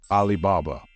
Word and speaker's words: Alibaba: This brand name comes from the name of the folktale Alibaba and the 40 Thieves. So, this brand is pronounced exactly the same way, Alibaba.